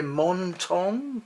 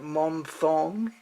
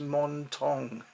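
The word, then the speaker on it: Monthong: just how fantastic this fruit is and yeah montong that's the correct pronunciation i was calling it mom thong in my other videos it's it's spelt like month on but it's pronounced montong and they say this is crunchy so i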